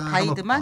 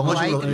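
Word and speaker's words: Weidmann: 중립적으로 샀다는 자산들을 쫙 바이드만? 한번 네, 제가 선생님 영어식으로 아까 영어식으로 아까 와이드만 영어식으로 발음했네요. 와이드만인데. 네, 독일은 바이드만이고 네. 영어식으로 네.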